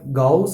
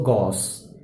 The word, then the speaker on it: Gauss: And the Gauss term is pronounced somewhere Gauss and also Gauss.